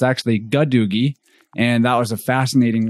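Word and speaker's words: gadugi: go looking that word up, we actually said a doogie, but we found out we had an error in the pronunciation. It's actually gadoogie.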